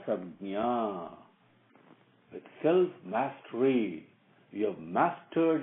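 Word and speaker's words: संज्ञा: How do you pronounce that? Vasikara Sabnya. Sabnya. Nya means knowledge. Sam means good, sacred. Vasikaram means not attached to, but sublimated to submitted to. That is what it means. Okay? So, sabjna.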